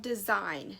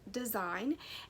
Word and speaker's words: Dasein: amazon and they're called design now it's spelled d-e-s-e-i-n but it's pronounced design and they reached out